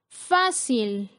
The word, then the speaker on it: fácil: Fácil, la sílaba con mayor fuerza es fa, que es la penúltima sílaba, por lo tanto se coloca la tilde.